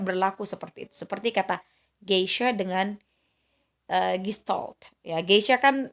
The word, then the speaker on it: geisha: Harusnya kita kalau misalkan kita mengikuti aturan yang tadi, karena dia diikuti oleh huruf maka dia harus dibaca geisha, padahal tidak, karena memang pengucapan dari sononya itu adalah G, maka kita baca geisha.